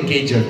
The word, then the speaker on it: Gauger: The first one I can never pronounce, Duncan the Gauger or Duncan the Gauger, or how would you pronounce it, Craig? Duncan the Gauger. Craig says it's Gauger then, that's good enough for me.